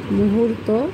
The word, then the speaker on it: মুহূর্ত: হুয়ের পরে কিন্তু ওই যে রেফের উচ্চারণ র, ওই রয়ের মধ্যে চলে যেতে হবে হুর, মু হুর। এরপর হচ্ছে তো, মুহূর্ত, ও আছে যেহেতু মুহূর্ত।